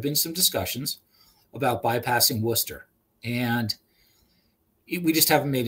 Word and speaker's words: Worcester: accent came out there oyster is how you say that correctly worcester yeah yeah yeah that's the new that's the new england thing it's worcester okay i never would have